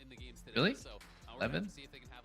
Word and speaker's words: Levain: Oh, it's pronounced Leven. Really? Leven?